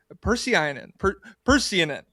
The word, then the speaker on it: Pursiainen: We are joined today by Moran, who's been on the show before, and Kris Pursiainen.